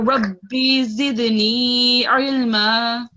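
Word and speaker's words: رب زدني علما: Rabbi zidni ilma. Excellent, well done. Ayin sound was good this time, and you prolonged the yeah.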